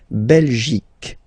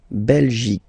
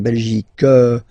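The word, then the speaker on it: Belgique: okay okay Bel okay remember C here you will get only the sound C okay belic belic so it's not belgic not at all okay because it's only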